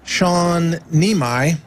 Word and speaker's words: Sean Niemi: We're continuing with US Army medic Shawn Neimi. That's the right pronunciation.